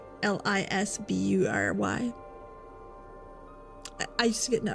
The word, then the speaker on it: Salisbury: It's spelt Salisbury. Salisbury.